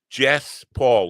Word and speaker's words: Jess Paul: Jess Paul, like Les Paul, the guitar, or the guy who invented the guitar.